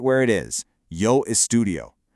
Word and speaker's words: estudio: The correct form keeps that I right where it is, yo estudio. You want to pronounce all those vowels really clearly so they don't get lost. It's four distinct beats.